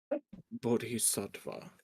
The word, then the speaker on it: Bodhisattva: I'm just trying to pronounce it. Bodhis sva. Bodhisa. Bodhisattva.